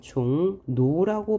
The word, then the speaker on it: 종로: 우리는 을의 비음화 합니다 종로를 보면요 종로 뭐예요 앞말의 받침이 이응이 뒤에는 첫소리가 리얼입니다 그래서 우리는 종 노라고 발음하죠 그다음에 백로를 보면 앞말의